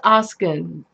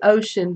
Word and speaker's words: Oskin: Corpus Oskin. We used to say ocean, but he let us know that it's pronounced Oskin.